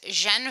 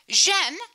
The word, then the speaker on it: Jeanne: Jeanne rhymes with Ben, more or less. This is Ben Franklin, to help us remember that.